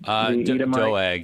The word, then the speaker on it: Doeg: I I'm not sure how you've been pronouncing it doeg or dog um doeg yeah doeg so doeg has been um